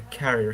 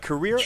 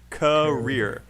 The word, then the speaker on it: career: with career uh so learning the word stress for career will help you a lot uh career how many syllables career maxis yes two career and which syllable is